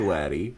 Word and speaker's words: Waddy: I don't know how you pronounce Waddy any other way besides Waddy. I think that sounds pretty Kentucky.